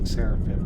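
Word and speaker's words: Sarafan: one's even wide the sarap and no I'm not mispronouncing sarapin that's actually how they pronounced in the game sarapan impossible this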